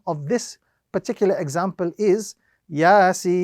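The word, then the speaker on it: يس: So the correct pronunciation of this particular example is Yasin. Again, with a larger portion of the prolongation on the letter Sin because of the mud which appears on top of it.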